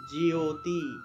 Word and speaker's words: জ্যোতি: এই যে জফলা আছে এখানে জফলা থাকলে ইয় উচ্চারণ হয় ইয়ো তাইলে জ্যোতি জ্যোতি বর্গীয় জ্য তারপরে ইয় উচ্চারণটা আসবে তাহলে জ্যোতি এইভাবে আমি একটু লিখে দেই তাহলে বুঝতে পারবেন জিওতি জিওতি উচ্চারণ হবে জিও জিও তারপরে তির